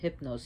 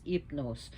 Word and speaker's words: Hypnos: which we pronounce it Hypnos here, but it's Hypnos because the H is not pronounced in Greek language. So Hypnos, which means sleep.